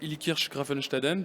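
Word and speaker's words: Illkirch-Graffenstaden: Bien, alors merci, félicitations, vous avez bien prononcé Ilkirch Grafenstaden.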